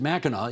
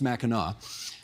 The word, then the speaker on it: Mackinac: Straits of, and we should remind people, you pronounce it Mackinac, even though it's spelled Mackinac. That's right. But it's pronounced Mackinac.